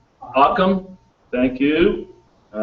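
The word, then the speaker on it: Ockham: a problem solving principle devised by william of ochman okay um am i pronouncing that correct akam thank you all right um it states that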